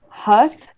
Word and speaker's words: hearth: It has a couple other pronunciations that are not as standard. Hearth. Huth. Hearth is the one you hear normally.